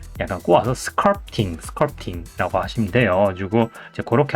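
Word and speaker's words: sculpting: 하시는 분들 있고 어떤 사람은 스크럽팅인데 이제 정확한 발음을 약간 꼬아서 스컬프팅 스컬프팅이라고 하시면 돼요 그리고 그렇게 알고 계시면 되겠습니다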